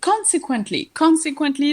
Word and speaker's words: consequently: So, consequently, the stress is on the first syllable.